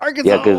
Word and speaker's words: Arkansas: It's still pronounced Really? Arkansas.